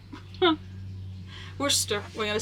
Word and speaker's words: Worcester: They are by Royal, I'm going to mispronounce it, okay, Worcester. Worcester, we're going to say Royal Worcester.